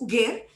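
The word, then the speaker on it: Uger: called ugar ugar uh while the spelling is u g e r and everybody thinks it's probably Uber ugar to rhyme with Uber but that's not so it's ugar and ugar is a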